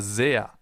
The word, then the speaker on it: sehr: That's why it's called Bienen S, because it's pronounced Z, as in super, for example, or sehr.